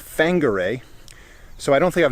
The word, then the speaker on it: Whangarei: the far apart but in the maori language the wh has an f sound so that's why the town is spelled wh uh wangarei but it's pronounced fanguray so i don't think